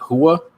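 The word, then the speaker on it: Rua: Mauricio, is it Hua? Is it Hua? Is that how you say his name? Mauricio and then, Hua. Hua.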